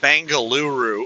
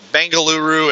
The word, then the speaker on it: Bengaluru: And she said it's actually pronounced Bangaluru.